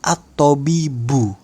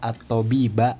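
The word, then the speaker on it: الطبيب: Maka itu karena dia menjadi fa'il, kita bacanya at-tabibu. Bu dengan dhammah. Marfu' bid dhammati dhahirah, ya. Marfu'nya dengan dhammah. Jangan kita baca jaa at-tabiba, salah. Jaa at-tabibi juga salah.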